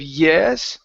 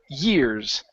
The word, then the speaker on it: years: years okay so here make sure that you bring in that e sound instead of yes okay it's year years what was it years